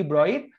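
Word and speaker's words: Broglie: সো এই তরঙ্গ দৈর্ঘ্যকে এই জন্য ডি ব্রয়ির তরঙ্গ দৈর্ঘ্য বলা হয়। সো বইয়ের মধ্যে আমির স্যার কিন্তু তোমাদেরকে ডি ব্রগলি শেখাচ্ছেন, তুমি পরীক্ষা তো ডি ব্রগলি দাগাবা। যদি আসলে রিয়েল উচ্চারণটা করতে চাও, উচ্চারণটা হবে ব্রয়ি।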